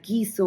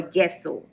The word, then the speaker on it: gesso: person was confused as he pronounced it as giso or gesso so I thought I